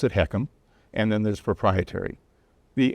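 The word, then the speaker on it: HECM: That's a home equity conversion mortgage, letters H EC, and we pronounce it heckham.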